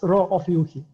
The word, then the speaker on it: Rho Ophiuchi: Yeah, it's Rho Ophiuchi. Ophiuchi. Okay. Yeah. I've like seen people's different pronunciation.